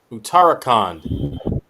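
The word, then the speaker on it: Uttarakhand: They take on Utarakand. I hope I pronounced that correctly.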